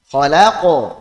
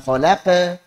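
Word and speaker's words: خلق: Khalaqo, jangan khalaqa. Khalaqo. Taqo, taqo, jangan taqo.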